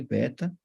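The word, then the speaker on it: βῆτα: Beta segunda letra e beta pronunciado com barba né barba o gama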